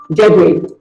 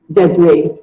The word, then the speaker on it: debris: Debris. It is not debris or debris. It is pronounced as debris. Debris. The S is silent.